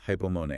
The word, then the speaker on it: hypomone: First is hypomone, h u p o m o n e.